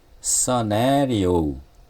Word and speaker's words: scenario: 그 다음에 발음이 scenario, 네의 액센트가 있습니다. scenario 발음이 어렵죠.